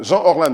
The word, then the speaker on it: Jean Orlan: Jean Orlan, il faut faire la liaison, sinon on va penser que c'est l'autre artiste qui fait Zouk.